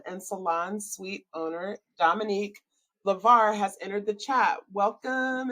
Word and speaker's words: LyVar: been hey I am good I did I pronounce your last name right is it Lavar laar Lavar yes okay right I wanted to make sure